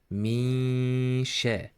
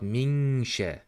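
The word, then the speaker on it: من شر: I'm not pronouncing the letter noon clearly. If you pay attention, I am hiding the voice like this. Misha. Misha. It is not minsha or minsha. You should not pronounce the letter clearly. You should hide it and blend it to the next letter.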